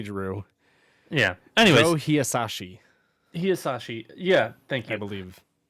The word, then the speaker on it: Hisaishi: No one ever pronounces his name correctly. It's only Drew. Yeah. Anyways. Joe Hisaishi. Hisaishi.